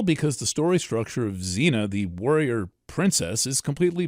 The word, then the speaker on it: Xena: We didn't really hear about Eris until 2004 or so and it's given the provisional name Xena, X E N A, probably correctly pronounced Xena.